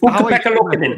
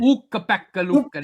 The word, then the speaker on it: Ukko-Pekka Luukkonen: It's Ukko-Pekka Luukkonen. Ukko-Pekka Luukkonen. Ukko-Pekka Luukkonen. That's how he pronounces it.